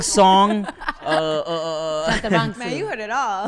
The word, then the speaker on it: Chantarangsu: Chantarangsu. Man, you heard it all. Did I say it right? Yeah. Chantarangsu.